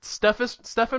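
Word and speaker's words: Stephan: Is that how you pronounce his name? I always forget. Pastis. Oh, Pastis. Yeah. Did I get the Stefan right?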